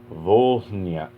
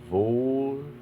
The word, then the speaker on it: Volhynia: Poles and Jews in Volhyna. Oh, wait. Okay. Volhynia. No. I'm putting the emphasis on the wrong syllable. Volhynia, there we go, Volhynia, and Eastern Galicia by OUN-UPA in 1943 through 1944.